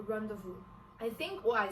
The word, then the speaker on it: rendezvous: The next one is rendezvous. It is spelled as R-E-N-D-E-Z-V-O-U-S.